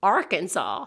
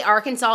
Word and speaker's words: Arkansas: In Arkansas, it is illegal to mispronounce Arkansas. The way Arkansas is intended to be pronounced is a French pronunciation of a word in the Sioux language, which this is actually